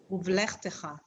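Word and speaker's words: ובלכתך: Uvlechtecha.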